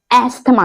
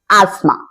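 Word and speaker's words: asthma: टी एच एम ए अब ये एक बीमारी है जिसे बहुत सारे लोग अस्थमा कहते हैं जबकि इसका करेक्ट प्रोनंसिएशन होता है आस्मा जी इसको अस्थमा नहीं आस्मा कहते हैं आपने सुना होगा जिसमें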